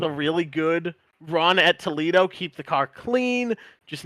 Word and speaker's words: Toledo: We're looking forward to it, absolutely, and thanks for clarifying it's Toledo. I've been pronouncing it wrong.